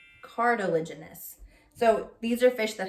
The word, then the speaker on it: cartilaginous: there's this is hard to say cartilage generous cartilaginous cartilaginous so these are fish that have cartilage okay